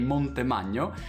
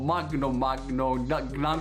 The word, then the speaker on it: Montemagno: people that I tried, all 10 people couldn't pronounce my surname. So everyone, they couldn't say Montemagno, and everyone say Montemagno, Magno, like, impossible.